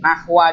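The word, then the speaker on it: نحو: Nahwa di sini tuh artinya contoh. Bisa kita artikan misal. Gitu. Nahwa. Itu bisa kita artikan. Ini bacanya bukan nahwu ya, nahwa. Nahwa gitu.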